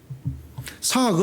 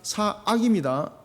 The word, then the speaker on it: 사악: 하는 누굽니까 막 입니까 상학 은 마귀가 주는 마 빕니다 사업의 누워 주는 마음이 라고요 이것도 발음 잘못 해가지고 제가 지금 4 아기라 그런데 상학 으로 들어가지고 약이 무슨 결과는 같다 아닙니다 4 아기입니다 아 4 악은 마귀가